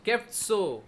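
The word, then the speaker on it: חֶפְצוֹ: ये साड़े के साथ ये ओ रखकर आपको उच्चारण करना है। சோ அப்படின்னு சொல்லி வரும். सो ऐसा आएगा। சோ கெப்சோ. सो केफ्सो।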